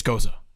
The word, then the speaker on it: Gose: Everybody says goze. And then a guy yelled at me at Bascule because he's like, "It's goza. It's goza." I'm like, "All right, man. Like, you can have your pronunciation."